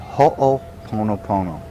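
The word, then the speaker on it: hoʻoponopono: resolution ceremony it's called ho ponopono there's a Hawaiian word for you let me say that again real slow ho means to take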